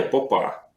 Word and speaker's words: Попа: Ну, вообще-то, как бы, если правильно ставить ударение, Попа.